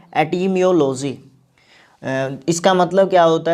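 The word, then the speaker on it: etymology: इस वर्ड का जो प्रोनाउंसिएशन होगा वो क्या होगा? एटिमियोलॉजी।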